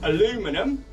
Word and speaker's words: aluminium: I love the word aluminium. You notice I pronounce it aluminium, not aluminium. Aluminium, or aluminum for our American viewers.